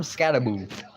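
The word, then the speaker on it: Skattebo: They pronounce it Cam Scataboo.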